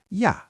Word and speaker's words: ja: The word for and is yah.